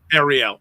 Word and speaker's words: Ahirel: I say Ariel. Ariel. Okay, there we go.